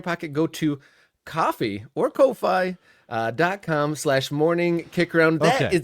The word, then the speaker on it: Ko-fi: But it just looks like Ko-Fi or Ko-Fi, I guess. If you're using again, my brain starts doing this thing where things get pronounced with Spanish vowels instead of English vowels because of my house, and I end up saying Kofi or something like that. So it's all wrong.